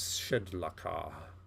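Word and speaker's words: Shedlakah: Jubillex's true name is Shedlaka. You can spell that for me, please.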